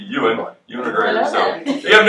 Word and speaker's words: Ewan: So that's you pronounce his name Ewan.